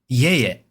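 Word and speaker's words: いえいえ: you can just say ie ie like that. ie ie That's how I say it. ie ie But even if you said ie ie or ie ie like the pitch doesn't matter as much, to be honest, cuz that's not the point.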